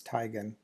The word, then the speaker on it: Teigen: similar to say the name of chris c tegan right the well-known uh model and personality internet personality uh and uh that said chrissy teigen says the actual correct pronunciation for her last name is is tygan and it's a it's based on german uh